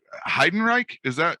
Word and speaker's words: Heidenreich: I'm gonna Heidenreich. Am I pronouncing it right? Yes.